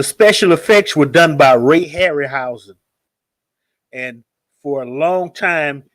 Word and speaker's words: Harryhausen: even hold up today you tell my ray-ray Harry hoo ha am I saying it right Ray Harryhausen Ray Harryhausen I don't eat Jeff sorry these